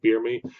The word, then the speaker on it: Biermi: They're using a company called BeerMi, like from The Office, like BeerMi, but it's spelled Biermi.